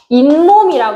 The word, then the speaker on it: 잇몸: 잇몸이라 그래. 잇몸. 자, 그러면 니은 소리가 한 번 들어갔지. 그러면 얘는 뭐야? 니은 소리가 덧나는 거야.